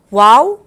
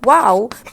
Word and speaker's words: wau: flown since times past it is called wow because the shape of its wing is similar to an arabic letter pronounced wow it is a marvelous